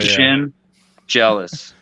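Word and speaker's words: Schendzielos: Shinzelis. Like Shin jealous. That's how he told me to pronounce it. Your shin is jealous. Shin jealous.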